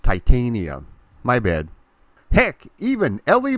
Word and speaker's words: Titania: It's pronounced Titania.